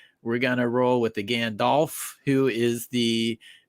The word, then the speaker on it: Gandalf: with Mackie over here he says it's pronounced Alf not off so Gandalf yeah Gandalf Gandalf baby it sounds way better with the off I that's we changed